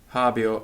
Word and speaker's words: habeo: o so javi Oh hobby oh I have and we mustn't overcompensate and put the accent on the air the accents on the heart so it's hobby or not a bear right javi Oh none